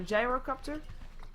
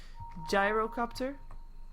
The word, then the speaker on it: Gyrocopter: on his gy copter gyrocopter I think there's different pronunciations I have got a couple of comments that it should be gyrocopter like gyro practor I think gyro copter is okay as well just different vual spirit in